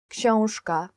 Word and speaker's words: Książka: Książka, book. Książka. Very difficult to pronounce in Polish, I guess.